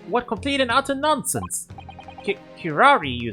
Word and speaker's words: curare: Curare? Curare?